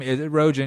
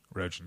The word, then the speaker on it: Rogin: There's absolutely much more Joe Rogan in me than Seth Rogen, me, Rogin Kim, with a name spelled with a G, so people pronounce it Rogan all the time, so you can see the dilemma.